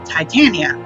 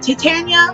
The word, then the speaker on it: Titania: be, or at least her name is supposed to come from the Titans, like the predecessors of the Greek and Roman gods, Titans. So her name would be Titania. But I keep seeing it pronounced Titania, and I don't know